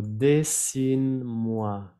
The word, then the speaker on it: dessine-moi: Dessine-moi. Dessine-moi. Es lo que les decía. No vayan a pronunciar la E al final.